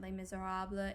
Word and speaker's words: Les Misérables: the future but i want to note that les miserables is the correct pronunciation regardless of what the producer cameron macintosh